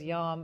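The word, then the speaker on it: יום: And that's the Hebrew word is yom. And I thought, oh, that's interesting. Kind of rhymes with dom.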